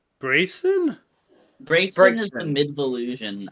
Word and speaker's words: Braixen: pronouncing it incorrectly all this time. It's Braixen, yeah. Have you been saying Braxton?